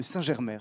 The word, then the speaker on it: Saint-Germer: Je présente enfin Christophe Baudry, voilà, le 5e autour de cette table, fondateur et président de l'association des Amis de l'Abbaye de Saint-Germer. Je prononce bien?